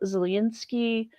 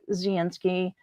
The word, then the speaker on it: Zelensky: lot of time with Zelensky. And yeah, the narrator did pronounce it, the L is more of a Y sound.